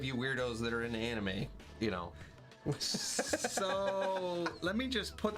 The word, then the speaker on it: anime: And it's anime, it's the actual pronunciation.